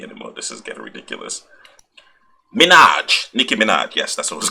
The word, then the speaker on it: Nicki Minaj: Okay, see, I can't even pronounce her name properly anymore. This is getting ridiculous. Nicki Minaj.